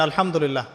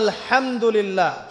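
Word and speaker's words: الحمد لله: আলামিন এইতো আপনি পড়ছেন আলহামদুলিল্লাহ শব্দটা কি আলহামদুলিল্লাহ এই হা এর মাখরাজ কোথায় হা এর মাখরাজ কোথায় বলেন একজন কণ্ঠনালীর মাঝখান থেকে এখান থেকে আপনি উচ্চারণ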